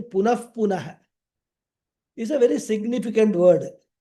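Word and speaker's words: पुनः पुनः: Punaha punaha. This word, punaha punaha, or correct pronunciation, punah punaha, is a very significant word, meaning again and again.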